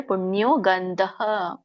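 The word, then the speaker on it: ಪುಣ್ಯೋ ಗಂಧಃ: ನಕೆ ಇವತ್ತು ದೀರ್ಘ ಇದೆ ಪುಣ್ಯೋ ಗಂಧಹ ಇಲ್ಲಿ ಅಲ್ಪವಾಗಿ ವಿಸರ್ಗ ಹೇಳಬೇಕು ಗಂಧ ಪೃಥಿವ್ಯಮಂ ರು ಒಟ್ರು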